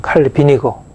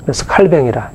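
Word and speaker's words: Calvin: 수 있는 칼빈의 칼배 영어 이름은 칼리빈이고 오늘 프랑스 발음으로 할배 요즘에는 칼뱅이라 이렇게 또 많이 하는데 칼뱅의 기독교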